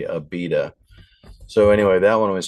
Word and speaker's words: Abida: Okay, so I was saying it wrong. I was saying Abida, but it was really Abida.